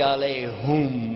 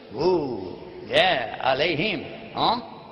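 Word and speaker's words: عليهم: Ghayrul maghdubi alayhum wala dhalin. Whoops. Alayhim. Actually, it's both because there is another pronunciation, but the common one.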